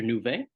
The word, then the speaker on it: Nouvet: Nouvet? Yes, that's perfect. Thank you. Nouvet.